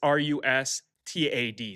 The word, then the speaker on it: Rustad: It's r u s t a d, so I would say Rustad, right?